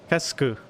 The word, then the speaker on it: qu'est-ce que: que euh qu'est-ce que Kesku. Yeah, yeah I'm wanting to say kasse, but yeah, Kesku. Okay. qu'est-ce que Kesku. you don't pronounce the U is silent and then the E is uh uh Kesku.